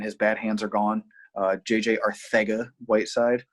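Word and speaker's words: JJ Arcega-Whiteside: JJ Arthega Whiteside. No, I don't have a lisp. That's how he pronounces his name.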